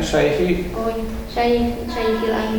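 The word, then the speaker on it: شيخِ الأنبياء: Bacanya Syekhil Anbiya. Jadi apa? Jadi badal dari Nuh. Siapa Nuh itu? Syekhil Anbiya, yaitu syekhnya para nabi, sesepuhnya para nabi, nenek moyangnya para nabi. Boleh dibaca Syekhu tapi menyimpan huwa Syekhul Anbiya boleh.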